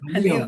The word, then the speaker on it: Halio: Jalío, Jalío, with the accent on the I.